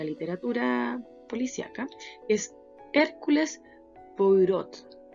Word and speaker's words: Poirot: policíaca, que es Hércules Poirot, un apellido que no se pronuncia.